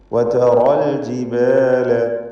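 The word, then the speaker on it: وترى الجبال: വതറൽ ജിബാല. റായിനെ തടിപ്പിച്ച് തഫ്ഖീം ചെയ്ത് ഉച്ചരിക്കണം.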